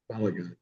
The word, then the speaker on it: Balogun: Uh, how do you pronounce it? Balagun. Balagun.